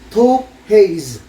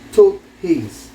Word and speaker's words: Taupe haze: Taupe haze, no? Hirap basahin, pero ni-research ko, ganun daw yung pagbigkas niya.